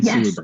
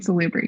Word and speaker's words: Salubri: So it's the Banu Hakim and Salubri. Oh, that's how you say it. And Salubri, yes.